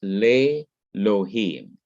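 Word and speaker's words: לֵאלֹהִים: then what happens is the aleph in elohim quiesces or becomes quiet and loses its consonantal character that is it's not pronounced it becomes silent and so what we have as elohim god we have lei lohim so instead of having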